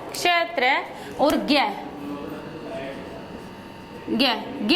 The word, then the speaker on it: ज्ञ: अब कि हम इसको ज्ञ ही बोलते हैं, जबकि प्राचीन संस्कृत जो पढ़ते हैं ना लोग, और जो संस्कृत के प्रकांड विद्वान हैं वो आज भी इसे जय ही बुलाते हैं, जय का ही उच्चारण करते हैं। आप इधर दक्षिण भारत की तरफ चले जाओ तो वहां पर भी इसको जय ही बोलते हैं, इसको जय प्लस ये नहीं, इसको ज्ञ नहीं बोलते, इसको जय ही बोलते हैं।